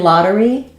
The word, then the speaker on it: lottery: the middle of words and in Lottery um we do use the flap T um because the first syllable is stressed so that's a very